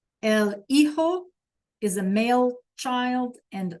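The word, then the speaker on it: hijo: The H is silent and the J sounds like an H. So I'll say them one more time. El eho laa.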